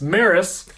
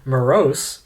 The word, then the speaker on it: Meross: we like to mispronounce maris that's how you do pronounce it or morose or morass as we've said previously they've come out with